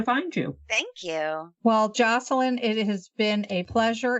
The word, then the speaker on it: Joshilyn: your website sure it's my name is spelled oddly estas illan but it's spelled Jo Sh ily in so it's Jocelyn Jackson comm or you can find